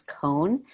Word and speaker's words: Kohn: hardest part is that my name is cohn but it's spelled k-o-h-n so why do i